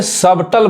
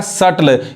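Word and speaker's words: subtle: listen अब यहां देखिए यहां पे सबटल बहुत लोग गलत पढ़ते हैं जबकि क्या पढ़ाए का सटल यहां पे जो बी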